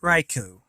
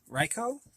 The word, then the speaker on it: Raikou: will read about is raikou riko i'm not exactly sure how it's pronounced i usually pronounce it raiku so i might be pronouncing it wrong but anyway it is